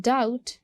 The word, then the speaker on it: doubt: And then डाउट. डाउट में वी डोंट pronounce B.